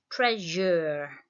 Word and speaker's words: treasure: what that spelling is we've got er for the first syllable tre and then jur the second syllable which is an s and then your treasure okay we're going to